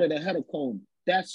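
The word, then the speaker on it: hecatomb: call it a headache we call it a head of Comb that's spelled h-e-c-a-t-o-m-b and I know there's enough dictionaries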